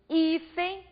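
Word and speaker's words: hífen: exemplo da palavra iem observem que quando eu pronuncio ifen eu intensifico a penúltima sílaba paroxítona terminada em n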